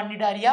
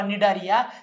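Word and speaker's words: Cnidaria: है सिलें टेराटा किवा डारिया प्राणी संग फाइलम सिलें टेराटा किवा डारिया सी साइलेंट असतो दोन्ही च नाव एकत्र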